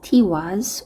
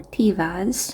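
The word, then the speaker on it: Tiwaz: This is Tiwis or Tivas, however you want to pronounce it.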